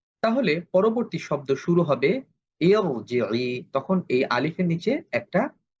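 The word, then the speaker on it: ارْجِعِي: যদিও আমরা শব্দটা যদি শুরু করি আলিফের নিচে একটা অস্থায়ী জের দিতে হবে, জের থাকা সত্ত্বেও এটা আমাকে মোটা করে বলতে হবে ইরজিই। আমি যদি বলি ইরজিই সেটা ভুল উচ্চারণ হবে।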